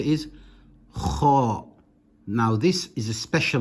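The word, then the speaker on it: خ: It is pronounced as if your mouth is full.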